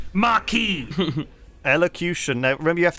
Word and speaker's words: Marquis: I was a Marcus already. Oh, Theater of Sloth. Oh, fucking... It is pronounced Marquis.